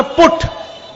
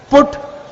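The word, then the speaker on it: put: मूर्खों की भाषा है एक शब्द है अंग्रेजी में उसका नाम है पुट उसकी स्पेलिंग है पी यूटी पुट तो बी यूटी बुट होना चाहिए कि नहीं लेकिन कहते नहीं बूटी बट तो पीटी पट होना चाहिए सी यूटी कट बयूटी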